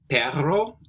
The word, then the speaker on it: perro: And try to roll your R. Perro. Whenever you see a double R, you got to try to roll it.